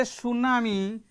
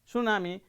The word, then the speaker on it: tsunami: not pronounced we say tsunami t starts with t this is the spelling tsunami but t is not pronounced t remain silent and